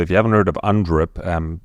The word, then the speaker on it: UNDRIP: So if you haven't heard of UNDRIP, exactly as it's spelled, UN and then DRIP, D-R-I-P.